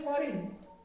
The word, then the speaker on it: foreign: इसका मतलब जी की आवाज इधर हमने खा ली। क्या खा ली? जी की आवाज खा ली।